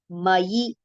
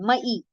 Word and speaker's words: मयि: Okay, ye tu sarvani karmani, ye tu sarvani karmani mayi. Most of the times here e is recited mai, but that will be wrong. It is ya with e, so it is mayi sanyasya, sanyasya matparaha, mayi sanyasya matparaha Ananye naiva yogena.